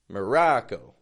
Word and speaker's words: Morocco: few friends listening Ino Maro putting awah in the beginning M the ra a short o sound ra real strong and then Co Co quick fading tense o o Morocco so those countries right